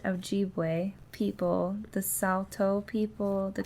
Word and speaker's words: Ojibwe: job um and those I know this one's pronounced Ojibwe people the Salto people the cree and the